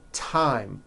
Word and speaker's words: thyme: Although these next words and names are spelled with a TH, they are pronounced as if they were spelled with a normal T, like that.